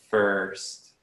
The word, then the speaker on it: first: And the pronunciation of the word first, it's the vowel sound together with the R, sounds like first.